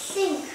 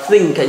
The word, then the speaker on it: sink: Sink. Đọc lại. Sink. Đọc lại. Sink. Sink. Sink. Không đọc là think nhá, think là từ khác đấy.